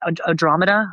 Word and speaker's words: Andromeda: to pronounce it because in my head it's like Andromeda, but it's Andromeda. Andromeda is the way you meant to say it.